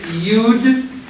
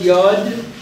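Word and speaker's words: יוד: Next is the yud, and it is pronounced yud. You will see sometimes people call it yod, but it's too confusing with yad, which means hand.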